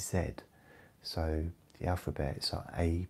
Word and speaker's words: Z: in England is JZ we don't use Z we use Zed so the alphabets are